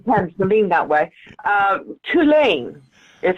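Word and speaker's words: Cú Chulainn: Tulane is how I've been told to pronounce it, and he is a war hero.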